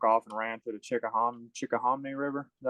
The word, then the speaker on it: Chickahominy: But that was I really regret that one, because I should have took off and ran to the Chickahominy River.